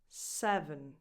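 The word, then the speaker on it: seven: So the stressed syllable is the first one, se, and the rest is unstressed. So the second vowel, even though in the spelling they look the same, they don't have the same sound.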